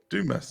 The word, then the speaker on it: Dumas: monte cristo by alexander dumas i think he's do mess isn't it not certainly could be pronounced otherwise well i mean the french i guess would say duma but yeah i've always said um such a good